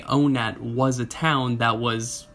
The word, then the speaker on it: Onett: believe it or not in early modern english the word one was actually pronounced much like the word own this means by technicality if you were to say o net was a town that